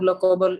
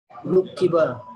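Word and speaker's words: لُقِّبَ: Nah, berarti cara bacanya lukiba.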